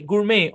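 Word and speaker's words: gourmet: ব্যালেই, গুরমে, অফেন বা অফটেন, এটাকে দুই ভাবে উচ্চারণ করা যায়।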